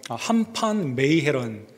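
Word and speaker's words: Han van Meegeren: 한판 메이헤런, 이 더치 발음이기 때문에 이렇게 발음을 그대로 보게 되면 한판 메이헤런이라는 이 화가가 뽑히게 되었습니다.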